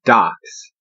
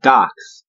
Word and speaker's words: dox: A DOX, D-O-X, is your information, D-O-C-S. The two are pronounced the same, and that's how we have our current DOX.